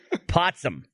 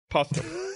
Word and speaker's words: Postum: a whole conversation based around the spreading of lies, and you pronounced it wrong, and now we all think it's called Potsum.